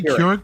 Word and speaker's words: Keurig: How do you say Keurig Brothers or Kucherek? Keurig. The C in the middle is silent.